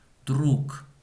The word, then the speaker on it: друг: Друг. Согласно буква Г, слышится как буква К.